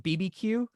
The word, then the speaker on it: BBQueue: pronounciation of your lips I call it BB Q so it's a play on BBQ and bit buffer q barbeque just cuz I come